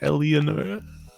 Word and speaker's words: Eleonora: I lean down towards Eleonora and it's Eleonora. Eleonora. Sorry? Yeah, you pronounced the second E.